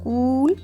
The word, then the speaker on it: cool: with the pronunciation okay now double O in cool so we have long ooh sound cool but here the same letters Double O have short o sound book okay seed letter E